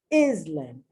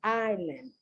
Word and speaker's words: island: times by native speakers islam and i said what is in islam i don't know i said because it doesn't exist the word is island then i say now